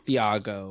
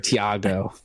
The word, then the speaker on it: Thiago: I'm SI shouting out theago or Virgil the H good is silent the H is silent Justin oh sorry Thiago sorry he's on the